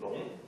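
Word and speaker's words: 龙: The character's pronunciation is Long.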